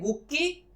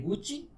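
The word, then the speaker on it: Gucci: पहले इसकी बात कर लें तो उस हिसाब से इसको या तो हम प्रोनाउंस करें गुक्की या प्रोनाउंस करें गुस्सी, बट कंपनी से प्रोनाउंस करती है गुची। From no angle it's गुची, but pronounce करती है तो हमें भी प्रोनाउंस करना गुची।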